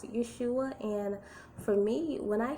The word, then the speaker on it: Yahshua: But to me, what made sense to me was when I studied this and I saw Yahshua, okay, and when it came to, the person who was teaching me how to pronounce it, it was Yahshua.